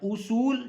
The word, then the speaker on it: اصول: ہے وہ ہے اصول۔ آ نہیں پڑھنا آپ نے، الف کے اوپر پیش ہے، او پڑھنا ہے۔ اصول جس کے معنی ہے